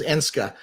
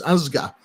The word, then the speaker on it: Énska: company is ah so the the of Western pronunciation is Ena um but the correct Mohawk pronun pronunciation is Asa um and it's the Mohawk word for one